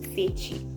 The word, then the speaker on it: Feechi: And the only thing you need to know for now about me is my name is Fechi, and it's spelled Feechi, but it's pronounced Fechi.